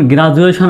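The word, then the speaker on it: graduation: ডির আগে যদি ভাওয়েল থাকে এবং পরেও যদি ভাওয়েল থাকে, তাহলে ডির উচ্চারণটা হবে বর্গীয় জ বা অন্ত্যেষ্টিয় জর মতো। যেমন গ্রাজুয়েশন বানানে দেখেন, এই ডি এর আগে কি আছে?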